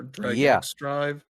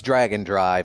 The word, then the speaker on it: Drag x Drive: Yeah, the other Nintendo game they announced here, Drag and Drive, or Drag X Drive. It's Dragon Drive is how it's supposed to be pronounced.